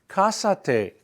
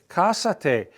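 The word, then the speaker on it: cásate: guy or a girl you say kasate kasate Accent on the a right at the beginning of of the word kasate you add if you want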